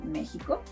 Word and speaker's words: México: It may sound like a J, as in Mexico.